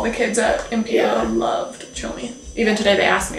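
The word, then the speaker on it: Tshomi: good conversation starter, too, because Chomi is obviously not, like, a normal dog name in the States. People look at it because it's spelled T-S-H-O-M-I, and so they look at the spelling of it, and they're like, what is that?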